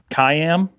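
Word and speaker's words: CIAM: yet another yet another four letter acronym I know does anyone know how to pronounce it no kayam they did a wave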